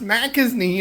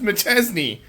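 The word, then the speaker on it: Machesney: It's not pronounced McIsney, it's pronounced McChesney.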